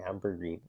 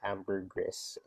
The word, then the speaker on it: ambergris: I had trouble saying ambergris because back then I saw ambergris, like that's spelled AMBRGRIS. I had no idea the S was silent.